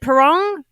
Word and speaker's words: Pirrong: Is it Pirrong? Yes, how do you pronounce it? If you're not Pirrite, you're Pirrong.